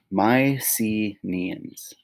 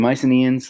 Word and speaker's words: Mycenaeans: the very first greeks okay pronounced my c neons okay the mycenaeans they were indo-european migrants